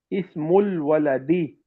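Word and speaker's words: اسم الولد: The word ismun and ibnun commence with a hamzatul wasl when preceded by the word the. Initial I dropped in pronunciation. Ismul waladi bilalun.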